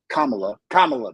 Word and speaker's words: Kamala: about what's going on, is that we knew Kamala, man, am I saying it right?